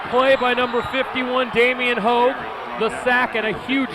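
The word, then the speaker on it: Haug: It's spelled H-A-U-G, but that's Hogue as well.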